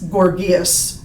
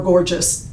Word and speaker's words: Gorgias: The first of the sophists that you're going to learn about is Gorgias, or Gorgias, however you want to pronounce it is fine.